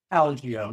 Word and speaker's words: Algeo: Is it Algeo? Algeo, yeah. Algeo, okay. The first syllable there.